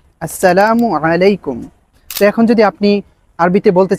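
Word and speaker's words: السلام عليكم: সালামের সঠিক উচ্চারণ হচ্ছে আসসালামু আলাইকুম। আসসালামু আলাইকুম।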